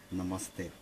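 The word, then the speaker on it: नमस्ते: И в Индии приветствие произносится как «намасте».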